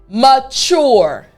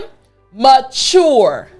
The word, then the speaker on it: mature: So after me chore. Excellent. So now the entire word after me mature. Excellent. Last time, mu mature.